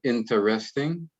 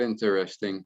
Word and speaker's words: interesting: Sí, se deletrea interesting. Sí. Y se puede pronunciar interesting, pero la mayoría de la gente lo va a pronunciar como interesting. ¿Ok?